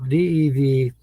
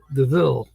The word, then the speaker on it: DeVille: Well, Devil. When you pronounce that? DeVille.